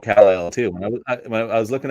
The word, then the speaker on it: KAL-EL: KAL-EL.